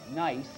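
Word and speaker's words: gneiss: kind of rock called nice the rest of the world pronounces it with it it has a silent gene you would be good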